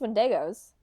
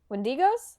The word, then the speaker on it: Wendigo: They're all just wendos. Wendigos. Did I pronounce it wrong?